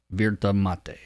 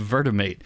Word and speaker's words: Virtamate: It's called VAM, which is short for, and I'm not sure on the pronunciation here, is this Spanish? Virtamate. No, I'm kidding. It's called Virtamate. And if you haven't figured